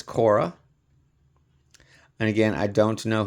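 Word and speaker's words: Khora: This next one is Kora. K H O R A as you see there in the bottom. I do believe that is the proper pronunciation is Kora.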